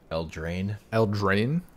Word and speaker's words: Eldraine: How do you pronounce the set name, by the way? Eldraine.